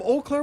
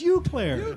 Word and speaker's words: Eau Claire: from we are from eau claire wisconsin pat don't you know that is your memories pronounced when i saw it written i thought it was you claire claire well our next